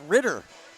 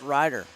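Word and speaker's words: Rydder: Looks more like Ritter to me. Pronounced Ryder. Like the name though.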